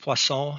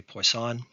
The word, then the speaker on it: Poisson: evaluations one example is poisson counting uncertainty it's pronounced poisson in french but i'm going to americanize it and say poisson another is uncertainty obtained